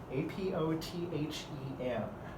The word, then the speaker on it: apothem: By the way, that word is misspelled a ton, not misspelled, sorry, it's mispronounced a ton in geometry courses. It's apothem. That's how it's pronounced if you look it up in the dictionary.